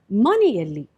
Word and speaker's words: ಮನೆಯಲ್ಲಿ: common location, that is, maneyalli. In this, you understood that a suffix alli was added to mane to make maneyalli in the house. Here, you can notice that ya is pronounced before adding alli.